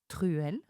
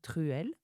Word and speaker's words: truelle: Well, did you hear the word truelle?